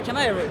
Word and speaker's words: Kamaeru: and uh we're checking out their new game camaru kimaru yeah camaru and uh it is a um uh it's